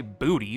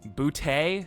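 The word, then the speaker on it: Boutte: I used to say booty, but bouty.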